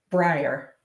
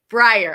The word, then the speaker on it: Bryer: want to make sure I'm saying it correctly Brier Brier okay perfect that awesome well I'm gonna go